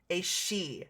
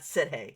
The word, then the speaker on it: Sidhe: She, not Sidhe.